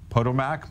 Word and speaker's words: Potomac: i've ever done a television interview where they pronounced that they said it correctly but the town incorrectly it's potomac maryland but okay thank you well you can